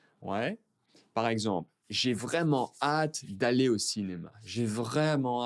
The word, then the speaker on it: hâte: Et le dernier, attention, on ne prononce pas le H. J'ai vraiment hâte.